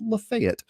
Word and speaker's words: Lafayette: Universe starting with lunella Lafayette the miraculous Moon girl side note if you're in Nashville that is pronounced lefet uh but Nadia didn't